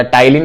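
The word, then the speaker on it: ptyalin: P silent रहता है तो टाइलिन पढ़ते हैं इसको।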